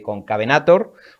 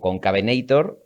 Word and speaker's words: Concavenator: producción el valle de concavenator o con cabenator depende de si lo pronunciamos a la inglesa o lo hispanizamos que también te ha